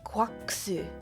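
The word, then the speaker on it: GQuuuuuuX: It's Gundam Quaxu. Is how it's pronounced in the show. It's like, yeah, Quaxu. So quacks, yeah, it's like that specific quax sound, which is it's a what do they say in it?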